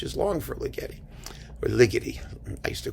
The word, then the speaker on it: Ligeti: them the getty it rhymed with spaghetti but then people yelled at me and said no it's ligety so all right ligety whatever you want to say maybe he just didn't want it to rhyme with spaghetti but i was right